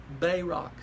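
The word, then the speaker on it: Barak: the juices thing is Bay rock by rock accent on the first syllable they Rock that's his name and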